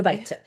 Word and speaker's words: 아르바이트: so this is how it's pronounced in Korean, Okay. 아르바이트.